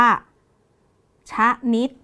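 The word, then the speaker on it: ชนิด: ช้าง นำ น หนู นะ คะ อ่าน ว่า ชะนิด ไม่ อ่าน ว่า ชนิ นะ คะ อ่าน ว่า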